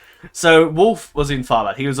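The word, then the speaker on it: Wulf: Wolf, who, as you may recall, is spelled W-U-L-F.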